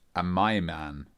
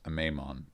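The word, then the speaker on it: Amaimon: also just read that it's actually pronounced a my man not a maimon but I'm not gonna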